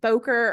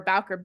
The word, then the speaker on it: Bowker: I never know if they pronounce it Boker or Bowker, I think it's Bowker. That's how Bowker.